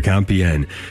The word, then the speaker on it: Compiègne: Jim Havens here, talking with author Jonathan Michael O'Brien today, and his book called to Compiègne, getting the pronunciation right here, Compiègne.